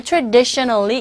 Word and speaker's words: traditionally: 알소리로 가깝게 들린다라고 말씀드렸는데 바로 이 모음에 강세가 가는 단어라면 그 법칙이 적용이 되질 않아요. 그래서 traditionally 여기서도 만약에 이 법칙을 적용시킨다면 이렇게 되거든요. 발음이. 그런데 뒷부분에 나온 모음의 강세를 받기 때문에 traditionally 이렇게 발음이 된다는 거. 요거 유의해 두시면 되겠어요.